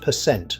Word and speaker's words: percent: The symbol percent is always pronounced percent with the stress on the second syllable.